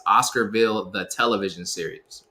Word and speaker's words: Oscarville: It's Oscarville, the television series, right?